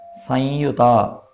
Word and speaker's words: സംയുത: അപ്പോൾ അവിടെ സംയുത, അവിടെ ഒരു അനുനാസിക ശബ്ദമാണ് പുറപ്പെടേണ്ടത് ശരിക്ക്. അപ്പോൾ അത് നമുക്ക് ചിലപ്പോൾ പറ്റിയില്ല എന്നുണ്ടെങ്കിൽ മലയാളത്തിലൊക്കെ എഴുതുമ്പോൾ സം എന്ന് മുറുക്കം ഇട്ടിട്ടാണ് യുത എന്നെഴുതാറുള്ളത്. അപ്പോൾ സംയുത എന്ന് വായിക്കാം, തെറ്റൊന്നുമില്ല.